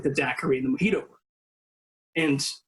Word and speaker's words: daiquiri: Jennings Cox made what we called a daiquiri or a daiquiri, as he pronounced it properly then, but do not now, because you'll seem silly, and how we got to it being a classic cocktail.